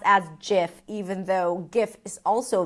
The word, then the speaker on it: GIF: people might say, okay, it starts with a G like guitar and great and give. So, it should be pronounced with a G sound, the hard G sound. But others may claim that yes, maybe the word starts with a G, but other words start with a G and pronounced with a J as in giraffe or ginger.